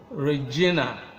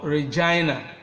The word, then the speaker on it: Regina: Yours faithfully, comma, then you sign your signature here, and then you end with Okon, Regina, or Regina. Two alternative pronunciations for this female name.